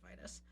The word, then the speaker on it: Vitus: Um, and I think I said vitus before, but it's actually pronounced vitus.